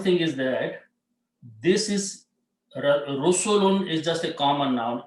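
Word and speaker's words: رُسُلٌ: So you put a dhamma here, and two dhammas, and pronounce Rusulun.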